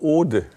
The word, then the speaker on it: Ode: Also spricht man es OHDE aus? Oder nein, wie? Das ist einfach Ode.